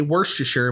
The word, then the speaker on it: Worcestershire: Just say the thing I say. Worcestershire, but you just say wash your sister sauce.